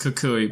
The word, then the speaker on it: Kukui: First, it's pronounced Kukui, but second, just no.